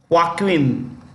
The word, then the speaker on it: Joaquin: Johnson is headed by Joaquin this J is pronounced with the ha H okay Joaquin duato that's the name